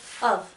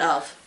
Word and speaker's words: Ove: A Man Called Ove, or Uwe, I think. Uwe, isn't it? I thought it was Ove. My sister pronounces it Ove. I think, well, because in the Academy Awards, this was a Swedish movie, and so they call it Uwe.